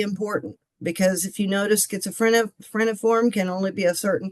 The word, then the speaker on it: schizophreniform: Oh, schizophreniform.